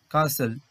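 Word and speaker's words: castle: তারপর আছে ট্যাকেল, আরো কিছু উদাহরণ দেখো, কাসেল, কাসেল, এখানে টি সাইলেন্ট থাকছে, হুইসেল, এখানেও টি সাইলেন্ট থাকছে।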